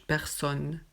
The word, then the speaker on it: personne: On ne dit pas personne, non, juste personne.